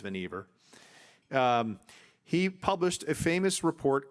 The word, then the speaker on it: Vannevar: engineering department at MIT, Vannevar Bush, I think I'm pronouncing that correctly. Someone can correct me if it's Vannevar, but I believe it's Vannevar.